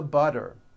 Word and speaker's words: butter: Please pass the butter. This should be simple. So now that you know that, practice saying this poem with me. Remember, all the T's are pronounced as D's because they fall between vowels.